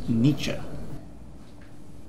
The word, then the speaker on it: Nietzsche: Dude, you're reading Nietzsche at 2 a.m. on a Friday night. I'm reading Kierkegaard, and it's pronounced Nietzsche.